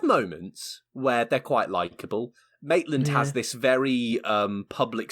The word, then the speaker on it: Maitland: wife yeah and then matalan who is not famous shop but i keep getting how you pronounce his name maitland maitland yeah the only reason i